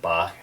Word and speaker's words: Bach: lot of people consider ba as uh is pronounced apparently bach some people get really mad i call them bots sometimes it's just unfortunately there's a lot of